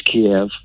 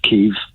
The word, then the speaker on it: Kiev: What I see is going to happen just quickly is within a week or two, and it is Kiev. It's not Kyiv. It's Kiev. Once they surround Kiev, they will give the President Zelensky the chance to get out.